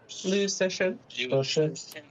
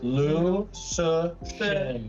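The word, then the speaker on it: Liu Cixin: Lou Session. The first name is Shut your mouth. Lou Session. Is it should? I'm gonna put it Session. right here. Yeah, Lou Session.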